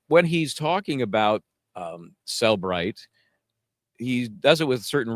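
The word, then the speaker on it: Cellebrite: it is it is Celbrite, by the way. Even people want to say Celbrite because there's a little e stuck in there.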